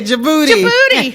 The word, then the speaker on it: Djibouti: how to pronounce this, but I think it's Djibouti, Africa. Did I do that right, Chris? That was close. All right. Would you give us that name? Djibouti? Yeah, Djibouti. Yeah, where's Djibouti?